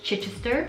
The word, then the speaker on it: Chichester: again um chichester okay i was definitely pronouncing that wrong it's chichester and 30 we've got